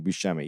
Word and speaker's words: Buscemi: Buscemi, yeah, Buscemi.